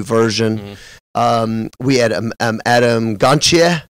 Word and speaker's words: Gontier: We had Adam Gontier? How do you say it? Gontier? Yeah, that's it.